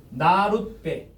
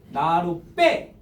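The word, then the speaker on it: 나룻배: 이거 편하게 발음하면 나루베 이러지 말고 편하게 발음하면 나룻베 이렇게 발음되죠. 그러면 지금 이 배에서 비읍이 무슨 비읍으로 발음이 돼요? 쌍비읍으로 발음되지 않습니까? 발음할 때 나루 빼 이렇게 되잖아요.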